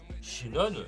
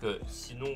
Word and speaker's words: Sinon: tapé déjà le portail Shinon, donc Sinon ou Shinon, ça dépend pour ceux que de comment vous prononcez.